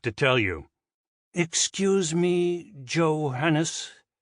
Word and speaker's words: Johannes: Excuse me, Johannes. The butler pronounced the name with an English J incorrectly. Kepler sighed. Think of it as a Y, Johannes.